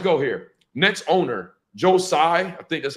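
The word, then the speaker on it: Tsai: here next owner Joe Sai I think that's how you pronounce his name I think the t is silent Josiah um reportedly completely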